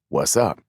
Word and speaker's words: WZUP: station with the call letters WZUP, pronounced What's up?